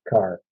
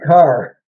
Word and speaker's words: Kerr: It's spelled Kerr, but I guess it's pronounced Carr.